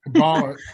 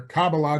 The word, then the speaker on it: Kabbalah: So we're going to break this down a little bit, but Kabbalah, okay, or Kabbalah, depending on how you want to pronounce it, that's Jewish.